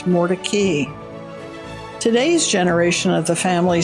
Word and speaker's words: Mordecai: jews generally would say mordechai or mordecai but in raleigh the family has been known for years as mordecay today's generation of the